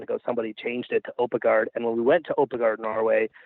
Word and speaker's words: Oppegaard: Because nobody can spell Oppegaard properly.